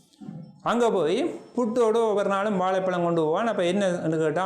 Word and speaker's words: வாழைப்பழம்: இந்த லானாவை ஜானா மாதிரி தான் பண்டிதர்கள் உச்சரிப்பார்.